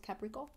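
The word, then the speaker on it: Caplico: called CAP Capo but in Japan they don't pronounce the L so it's caprico okay um and it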